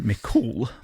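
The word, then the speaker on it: Mac Cumhaill: believed to be created by the giant Finn McCool. Okay. I love his name. It's spelled Mac Cumhole, but it's pronounced McCool.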